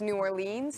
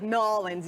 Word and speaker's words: New Orleans: That's because it rhymes, you know, they're trying to rhyme it. Together, like, yeah, rap, like the Saint Lunatics and... Yeah, but don't go like Nolans either, because they don't like that either.